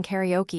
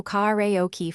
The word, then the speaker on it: karaoke: You should make the first an open ah sound, not I, because that preserves the original tone. Next, keep the o brief, no diphthong, so karaoke flows cleanly.